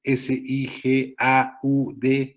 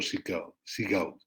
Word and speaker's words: Sigaud: La escuela francesa, que fue promovida por Claudio Sigaud, se escribe S-I-G-A-U-D, Sigaud, Claudio Sigaud, clasificó a los sujetos en 4 modelos, que es el respiratorio, el digestivo, el muscular y el cerebral.